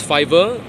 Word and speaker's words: five: So you can pronounce 5 as fiver, 9 as niner.